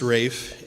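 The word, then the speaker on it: Ralph: all by rayfon Williams and yes it is pronounced Rafe his Widow in her biography of him said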